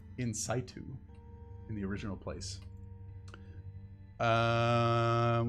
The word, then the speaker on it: in situ: i've encountered in in c2 how do you pronounce that nc2 in situ in situ in the original place um where was i